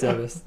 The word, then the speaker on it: Zebes: No, it's Zebes.